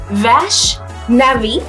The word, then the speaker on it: Vaishnavi: Okay, her name is Vashnavi.